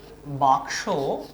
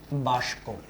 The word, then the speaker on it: বাক্স: আবার বাক্স, এই শব্দটাকে অনেকেই উচ্চারণ করে থাকেন বাষ্প।